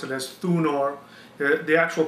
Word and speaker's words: Thunor: it as Donar the Anglo-Saxons pronounce it as thunor the actual pronunciation was thunar so one question comes to